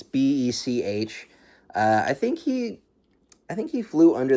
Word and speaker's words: Bech: Is it Betch or Beck? I want to say it's Beck. It's Bech.